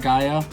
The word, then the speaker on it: Gaia: looked up how to pronounce it it is pronounced Gaia so we are getting that ready part of